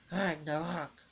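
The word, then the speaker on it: Ragnarök: Ragnarok, which is actually pronounced Ragnarok.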